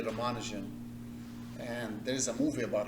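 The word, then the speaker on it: Ramanujan: we have a mathematician his name is uh ramanin different people pronounce it slightly different but let's say ramanan and there's a movie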